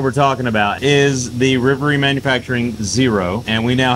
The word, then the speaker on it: Rivery: it's Riley and Avery so rivalry is we pronounce it Rivery but internally it's rivy what's going on